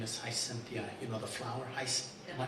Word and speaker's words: Gisimba: The young lady's name is Gisimba, the flower. Am I pronouncing that right?